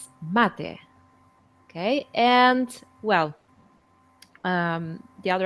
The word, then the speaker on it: mate: Okay, so you have to remember that this one is pronounced as latte. Okay, don't confuse it for mate. It's mate.